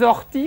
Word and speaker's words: orties: C'est la liaison, c'est la liaison avec les orties.